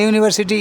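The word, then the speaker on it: university: Dash ইউনিভার্সিটি, এখানে ইউনিভার্সিটি ইউ, ইউ এর মতো উচ্চারণ হচ্ছে, তাই এখানে এ বসলো, এ ইউনিভার্সিটি।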